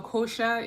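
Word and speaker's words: Xhosa: Eventually, the Kosha women, so Kosha is a tribe in South Africa and is spelled X H O S A.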